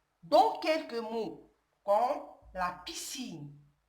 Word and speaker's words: piscine: Le son S peut aussi s'écrire S. S avec le C. Dans quelques mots, comme la piscine, S avec le C.